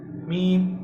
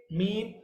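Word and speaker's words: ميم: For example, आप जब मीम को रीड करेंगे, मीम, तो यू are connecting your lips, you are merging your lips, so it is pronounced by lips.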